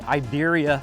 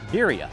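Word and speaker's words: birria: i have to say i have to say iberia first and then i say beeria uh first of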